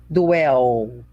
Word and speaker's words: dwell: Muito bem, toma cuidado com L, dwell, né? Porque no português, o L tem som de U. Eu mesmo sou o quê? Vilma? Viúma. Mas lá no exterior eles me chamam Velma, né? Porque o L para eles realmente tem som de L e não de U.